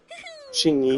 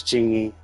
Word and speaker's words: Qingyi: ぞ治安官補佐の実力ってね I think I heard someone else say Shui. Although maybe that's how it's pronounced in Chinese. Maybe her name is pronounced Shui in Chinese. And since this is the Japanese person saying it, they pronounce it. They pronounce the characters as Qingyi. Yeah, whatever. I'll just say Qingyi then.